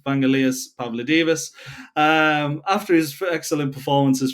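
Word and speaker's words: Vangelis Pavlidis: probably recognize the name Vanelitus Pavlo Divas. Um I've butchered that. It's Vanalas Pavlo Divas.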